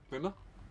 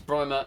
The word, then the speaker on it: Brimer: sorry, apologies for calling you Brimmer? Mm-hmm. Brimmer. And he prefers It's Brimer and because rhymes with trick.